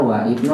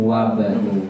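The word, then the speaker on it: وابن: Nggak boleh kita bacanya wa ibnu tapi langsung wa banu.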